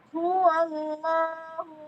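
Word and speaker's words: هو الله: Jadi cara bacanya itu bukan hua hua bukan ada wnya. Tapi itu diangkat qul huallah huallahu diangkat ke langit-langitallahu bukan ada w-nya melainkan tadi lamnya ee lidahnya kita kita angkat.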